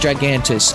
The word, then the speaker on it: Gigantes: Gigantes! I know it's pronounced Gigantus. I don't know, I pronounce it that way because I want to.